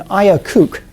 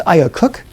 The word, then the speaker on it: IACUC: If we are instead going to be using non-human animals, then we typically use something called an IACUC, is how it's frequently pronounced, sometimes IACUC. Either of those pronunciations you will hear.